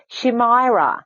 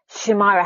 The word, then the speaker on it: Shimaira: yeah i did yeah well you pronounce it differently in dutch but when i speak english i also say my my name in an english fashion so shimaira how would i pronounce